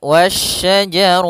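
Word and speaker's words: والشجر: Dan di sini hati-hati jangan sampai terbaca huruf syin apa huruf sin lagi tapi dia huruf syin wasyajar sebagaimana yang di awal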